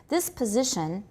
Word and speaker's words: position: This position. Position. Z is the tonic stress. This position. Good. And everybody also note the S is pronounced as Z, pz.